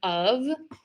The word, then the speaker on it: of: So again, VV is not always represented by the letter V, but the word of is actually pronounced with um is actually pronounced with the V.